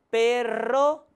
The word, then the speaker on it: perro: La R doble, que necesita ser pronunciada vibrando la lengua, como en carro, perro, que es distinto de la palabra que posee solamente una R, pues en este caso se pronuncia menos vibrante, como en pero, caro.